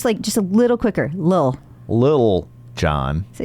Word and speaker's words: Lil Jon: So recently, Lil Jon, gotta say it like that. Okay, Lil Jon. Lil Jon. I think you held a little hard on the Lil. Well, I don't want to say Little John, because then I sound